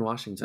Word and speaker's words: Washington: There's no R in Washington. Washington.